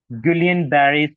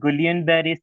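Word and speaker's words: Guillain-Barré: de marinating disease GBS gullian bar syndrome there's so many pronunciation of this syndrome so gulan ber syndrome or GBS so what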